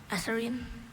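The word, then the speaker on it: eserine: Esserine.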